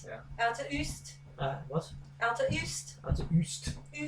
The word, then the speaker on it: Uist: I would have called it Uist, you see. And again, that's my lack of experience of Scottish pronunciation.